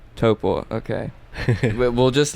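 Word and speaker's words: Taupō: Give me the proper pronunciation. Taupo. Taupo.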